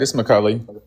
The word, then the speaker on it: Makali: Um Yeah, okay, so I'm going to go next up here to Makali? Let me know if I'm mispronouncing your name. You had it right. It's Makali.